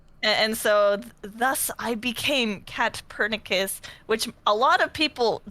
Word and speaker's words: KATPURNICUS: Yeah, it's a bit long, and sometimes people think the C is pronounced S, so they're like Catpernicus, or like they'll kind of stumble on it.